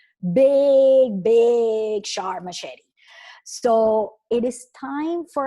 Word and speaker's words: machete: it has a machete my chat they he will be pronounced in Spanish big big sharp machete so it is time